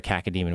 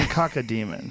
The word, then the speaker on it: cacodemon: What's the spell it? C-A-C cac-o. Oh, C-A-C-O. Don't you have kids? You have kids, right? I do. I have 3 kids. It's caca. You're saying caca demon. It's a poo-poo demon.